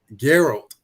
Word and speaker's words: Geralt: let me all right so i hope i pronounced his name right um jared is it gerald geralt yeah daryl geralt from the witcher and we're